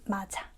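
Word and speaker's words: 맞아: We just connect to the vowel, so it becomes mad ayo.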